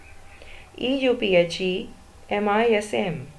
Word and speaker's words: euphemism: with a vowel sound EU Phe M is M the first letter is e but we pronounce it as euphemism it begins with a u sound year so it is